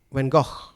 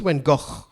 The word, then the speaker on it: Gogh: van Gogh that painter do you say Bangkok when go think walk yeah that's how you pronounce when go oh yeah these are